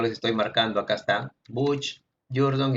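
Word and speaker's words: Booch: Así, bueno, así se pronuncia, ya se escribe Butch, pero se pronuncia Butch.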